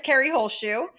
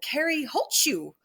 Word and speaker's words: Holzschuh: job on the pronunciation I actually met someone from Germany when I moved here and I was working my first restaurant job and he was German and he said oh Carrie holds you and I said oh my gosh it sounds like a sneeze I never knew that